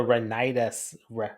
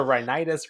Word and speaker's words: rhinitis: I'm doing amazing because we just watched the Renitis Revelation. Reitis revelation. I was so worried about pronouncing rhinitis, I mispronounced Revelation. You almost got it, though. Ah, the rhinitis revelation.